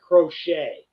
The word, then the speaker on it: Crochet: what's that guy's name is it crochet or croquet or whatever I've heard him pronounce it Garrett crochet okay also I've also